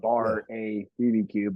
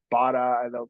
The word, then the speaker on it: BAR-A-BBQ: It's said just like it's spelled BAR-A-BBQ, but I get Bada. They'll put like a Spanish flair on it, Bada, or you hear every different thing.